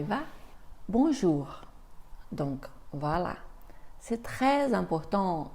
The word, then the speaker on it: bonjour: simplement ou et finalement le r final dans ces cas-là on va l'entendre un peu comme quand tu fais des gargarismes d'accord et comme il est à la fin il est très léger on y va bonjour